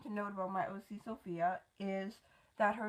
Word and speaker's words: Sophie: it like Sophia so you spell it like Sophie and pronounce it like Sophia and the reason I